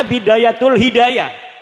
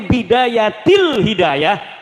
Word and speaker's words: Bidayatil Hidayah: Karena deke maca Bidayatul Hidayah. Harus bah dibacanya Bidayatil Hidayah karena ana huruf jer B.